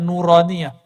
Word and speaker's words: nuraniah: Makanya ribat itu kita kasih nama nauraniah. Itu bacanya nuraniah.